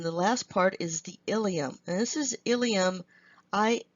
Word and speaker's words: ileum: the jejunum and the last part is the ileum this is ileum I L II um the